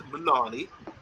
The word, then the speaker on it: Muani: This guy here, now, he rhymes, his surname rhymes with Muani, but it's Muani, as in Icardi, Muani, Kanani.